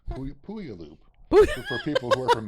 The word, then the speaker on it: Puyallup: And then there's also the Washington State Toy Show in Puyallup, Puyallup, for people who are from Minnesota.